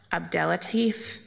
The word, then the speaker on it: Abdellatif: TIF district, and our first panel is Abdelatif, Aaron Maxey, Jacob Loeb, and Joshua Allen Pangilinan. And I apologize for pronouncing names incorrectly, but I'll do the best I can with a long list.